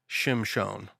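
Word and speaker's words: Shimshon: a son and called his name Shimon that's how you actually pronounce it oh but it's Samson that's how read it in English and the young man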